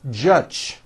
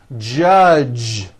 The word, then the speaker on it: judge: the word judge as judge turning that last sound into an unvoiced ch judge and that is not right the j sound in american english is always voiced j j judge like that for you